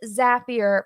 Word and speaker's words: Zapier: So yes, it is Zapier pronounced like happier.